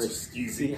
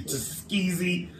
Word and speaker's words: Tuskegee: Tuskegee. I can't say it. I try like I'm wearing slutty woman. You Tuskegee.